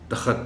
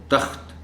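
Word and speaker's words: تخت: में कोई जल्दी में इसको दखद एन बोल जाए तो इसको तख्त ही बोला जाना चाहिए तो हान इस लफ्ज़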